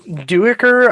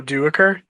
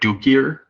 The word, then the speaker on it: Duiker: Oh, Duiker? Yeah. It was throwing me off. Oh. I don't know if it's a little bit of like dyslexia, but I kept thinking like Dukier.